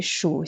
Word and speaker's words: 数: En tant que verbe, c'est 3e ton qui veut dire compter, donc 数. Alors, on dit 数星星, ça veut dire compter les étoiles.